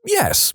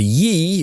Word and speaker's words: ye: I've already done the ye in e oldie is actually abbreviated as an early modern English letter called Thorn that was pronounced like th so it's pronounced more